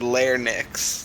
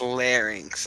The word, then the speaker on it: larynx: do you say it I heard layer Nix that's what I said pronounce that you want to help me out boss man its larynx I believe you want